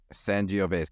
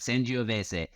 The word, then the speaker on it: Sangiovese: and then you'll really see how things are pronounced. I'll be waiting in the wings. Let's actually Sangiovese. never do that. Sangiovese. S-A-N-G-I-O-V-E-S-E.